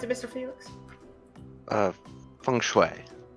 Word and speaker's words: feng shui: How do you pronounce it, Mr. Felix? Feng Shui. Feng Shui.